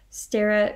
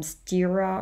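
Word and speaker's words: Sterre: somebody so yeah and if they see the spelling with an e they may pronounce it incorrectly um stira or something like this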